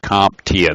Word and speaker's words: CompTIA: it's developed by the computer technology industry Association CompTIA that's how you pronounce it passing shows a basic competency in